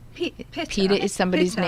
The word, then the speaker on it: pita: learned how to say it correctly this evening, you can use gluten-free pita, not pita. Pitta.